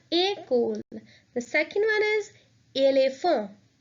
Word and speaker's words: école: Since the word école has an E which has an accent, we will pronounce this word in a different way. So that would be école. That E with the accent will be pronounced as A. So we will pronounce it as école.